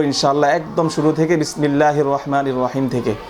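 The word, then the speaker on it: رحمن: practice করব অনুশীলন করব গলাটা একটু চেপে ধরে আমরা হলকের মাঝখান থেকে হাটা উচ্চারণ করব রহমান বিসমিল্লাহির রাহমান নির নির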